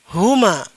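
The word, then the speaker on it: هما: Kemudian ini dibaca huma.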